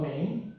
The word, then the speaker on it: MAME: And they played multiple arcade machine emulators, MAME, right? And so the trick of MAME, or MAM, again, it depends on the pronunciation, but I'm going to say MAME, all right, is that there was a struggle to it.